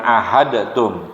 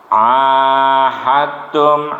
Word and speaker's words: ahadtum: Perhatikan, kita lihati dari di situ ada illalladzina di situ ha dal sukun fathah had ya, tapi bertemu dengan ta yang bertasjid, jadi dibacanya langsung dalnya luluh kepada ta. Jadi begini, ahadtum bukan ahadtum, tapi ahadtum indal masjidil haram.